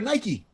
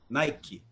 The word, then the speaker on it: Nike: __ ] up okay with nike nike which one's correct if you buy it from aliexpress it's nike it's not it's spelled n-i-k-e right but people say nike where's the it means